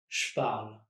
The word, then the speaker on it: je parle: When saying je parle, I'm actually dropping the on parle first. Je parle and not je parle. Only 2 syllables.